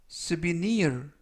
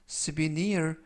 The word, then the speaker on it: souvenir: 이번 표현은 souvenir 이라고 발음하시면 되겠고요. 강세는 뒷부분에 있는데요. 뒷부분에 있는 알파벳 I에 강세가 있습니다. 그래서 souvenir 이라고 발음하시면 좋겠고요.